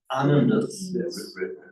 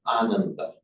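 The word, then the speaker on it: Ānanda: Oh, so Buddha, this was Ananda's wrote beside him. But be careful to pronounce his name Ananda, because if you pronounce it as Ananda, that means joyless.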